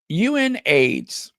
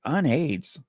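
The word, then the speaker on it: UNAIDS: So, um, UN AIDS. Okay, that's how you say it. UN AIDS. I was like, unades. UN AIDS. Um, Chariss Theren African Outreach Project and Archwell partnered for this.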